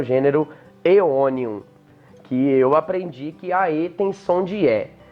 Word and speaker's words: Aeonium: A gente tem o ditongo AE, que no latim científico tem som de E. Então vai ficar Aeonium.